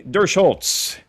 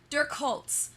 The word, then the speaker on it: Durchholz: It's so close. It's Duckworth. So, but Oh, you go with the hard C. Okay. Emily Duckworth, we got it. Well, Emily Duckworth is good, or Duck Hunter.